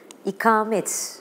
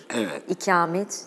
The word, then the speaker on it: ikamet: Söylüyorum Evet Eee Peki ikamet ikamet hangisini diyelim ikamet Mukim olmak bir yerde yaşamak oturmak manasındaki ses kalın uzun ve kalındır ikamet ikamet değil ama burada işte Bence